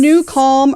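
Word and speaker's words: NuCalm: this in mind make a note we mentioned new calm earlier in case you are on the podcast and you're just listening it is spelled n u c l m it is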